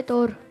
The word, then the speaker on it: तूर: तोर नहीं होता, तूर होता है। ठीक है, प्रोनाउंसिएशन की गलती है।